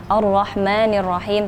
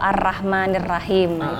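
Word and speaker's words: الرحمن الرحيم: sama hak atau roknya harusnya Allah tebal itu kan karena harakatnya Fatah jadi bacanya tebal atau tafkhim yang biasa kita kenal arrohmanirrohim tapi ada juga yang membacanya itu tarqiq ar-rohmah ar-rahman atau arrahmanirrahim itu karena kembali lagi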